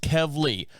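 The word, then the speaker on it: Kevleigh: say it's actually pronounced kevly like Kevin Kev from Kevin yeah I got that and Lee from Kelly spelled l-e-i-g-h why not sure and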